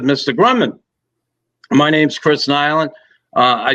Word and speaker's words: Nilan: said what's your name i said it's chris nylen he's how you spell that n-i-l-a-n he takes out the freaking guidebook